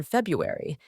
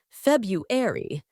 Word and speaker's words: February: the pronunciation has changed the first R in February is often silent in Modern English because it's easier to say February then February this mismatch between spelling